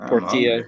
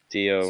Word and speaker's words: Portillo: Spelled the same with just a P instead of a T. It's like Portilla, but Portillo.